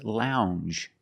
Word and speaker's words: lounge: It makes the regular N M plus the J. Lounge. It follows the same pattern as orange and change. M. It's a regular N plus a soft J sound.